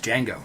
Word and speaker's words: Django: name boy my name's D Jango spell it for me d g a n g o the D is silent and francoo the original